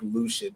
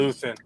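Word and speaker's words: Luthen: they really don't like Lucian. And I I I never understood that or Luan. Is it Luth or is it Lucian? Luth.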